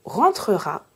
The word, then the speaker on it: rentrera: La règle est donc, lorsque j'ai deux consonnes prononcées avant mon E, je dois prononcer le E. Mais si j'ai un seul son consonne prononcé avant mon E, je peux prononcer le E ou non.